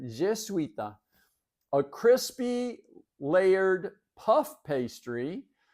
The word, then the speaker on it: Jesuita: Number two, Jesuita, Jesuita. And it's spelled kind of like Jesuit with an A on it, Jesuita.